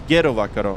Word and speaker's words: gero vakaro: Oh, it's Gero Vakaro. Okay. 120.705 and then 118. Gero Vakaro. There we go. You gotta say it like Lithuanian.